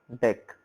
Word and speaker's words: deque: It is usually pronounced as deck.